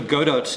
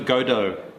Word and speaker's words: Godot: boy no waiting for Godot is the play by Samuel Becky oh they don't pronounce the T waiting for godo godo right so KY what's